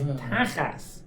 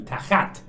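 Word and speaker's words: תחת: So, if you've been Sephardi, you'd never said that cuz it would be tachat, right? So, when he goes Ashkenazi, pronounce it soft as a soft, right? So, it's tachas and that's how it becomes your tuchus.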